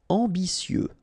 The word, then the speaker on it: ambitieux: Ambitieux, final X not pronounced, and then remember that you've got this T, I, and then vowel, so si.